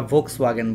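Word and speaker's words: Volkswagen: তোমরা দেখবা যে ভোক্সওয়াগেন কিন্তু একটা গাড়ি, সেই জার্মানির একটা গাড়ি, ওটা কিন্তু ডাব্লিউ দিয়ে মনে হয়, ওদের উচ্চারণ বানানটা কিন্তু ডাব্লিউ দিয়ে, খেয়াল করবা, বাট উচ্চারণ কিন্তু আমরা ভোক্সওয়াগেন বলি, ঠিক আছে।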